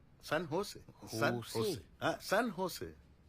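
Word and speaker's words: San Jose: ও বাবা, সানজোস। সান হোসে। সান হোসে। হ্যাঁ, সান হোসে। জের উচ্চারণটা এইচ এর মতো হবে, সান হোসে।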